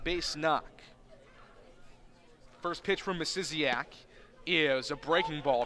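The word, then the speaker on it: Misiaszek: And looking at it phonetically, you would not think that, but the pronunciation's in their media guide says Misiziak. Spelled M-I-S-I-A-S-Z-E-K. Somehow you get Misiziak out of that.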